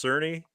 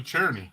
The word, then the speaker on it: Cerny: i didn't help me would you look at my last name and think that that's cerny no i call you cherny i know but that's how it's supposed to be pronounced okay okay what are